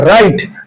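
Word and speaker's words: write: और last one है राइट। डब्ल्यू आर आई टी ई। राइट में डब्ल्यू की साउंड जो है उसको हम प्रोनाउंस नहीं करते तो उसको हम कहते हैं साइलेंट लेटर्स।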